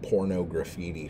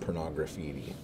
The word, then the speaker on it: Pornography: the album um pornography I think is how you say it um although ice I called it porno graffiti forever but I think it was supposed to be pronounced pornography whatever and I remember around